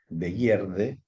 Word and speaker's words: Begierde: También lo compartía con otra palabra en alemán que se pronuncia Begierde, que es Begierde, con B larga, pero con la interpretación de